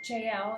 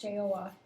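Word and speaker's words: Jael: in the days of jl it's actually pronounced joa the desert the highways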